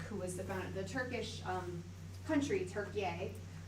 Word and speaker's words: Türkiye: So yeah, that was our first, and this is a statue to Ataturk, who was the Turkish country, Türkiye, which is how they prefer it pronounced now.